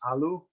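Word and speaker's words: ealu: english is follow this our anglo-saxon word ale usually pronounced aloo does mean an unhopped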